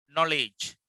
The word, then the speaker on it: knowledge: Knowledge. K is silent.